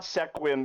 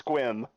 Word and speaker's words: Sequim: St Marie St Marie No it's it's not Sequim it's squim p yop PE alop p